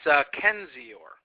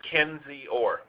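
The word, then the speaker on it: Kendzior: It's Kenzior. Okay. So 3 syllables, Kenzior. That's correct. The D is silent.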